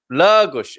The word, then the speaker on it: Lagos: So a long R sound, like a long O at the end. Lagos. Lagos. O at the end isn't stressed. When it's stressed, you have an open O sound and a closed O sound at the end of a word, and then you do the sh sound, of course.